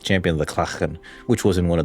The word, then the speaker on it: Klachen: All right, it is pronounced Klachen, by the way.